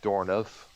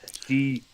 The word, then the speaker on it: Dourif: Also, we have Brad Dornoff. I think, did I pronounce that name right? Dourif.